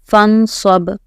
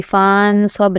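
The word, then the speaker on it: فَانْصَبْ: فنصب، فنصب. یہاں پر بھی فانصب نہیں، فنصب.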